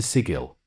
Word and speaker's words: sigil: did I get to sigil no no you say it like giggle did you know writing